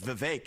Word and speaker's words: Vivek: open up I say my name's Vivek it rhymes with cake it ain't about thee